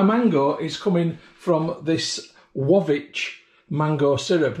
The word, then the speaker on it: Łowicz: is coming from this wavi mango syrup now we say lawitz uh in Britain but I think it's pronounced wavi but if any polish